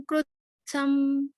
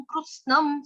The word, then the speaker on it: कृत्स्नम्: जी पुनः पुनः भूतग्राममिमं कृत्स्नम्, सम नहीं था, आपने न खा लिया यहाँ पे, कृत्स्नम बोला आपने। कृत्स्नम, स्नम।